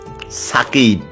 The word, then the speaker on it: সাকিব: এখানে সাকিব হবে না, লেখে দন্তস দিয়ে উচ্চারণ করে সাকিব। নো, SAKIB, সাকিব, ঠিক আছে?